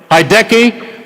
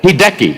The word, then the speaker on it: Hideki: Hideki Matsuyama.